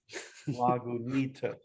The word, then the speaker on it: Lagunitas: And then it gives you pronunciation. Say Lagunitas. Lagunitas.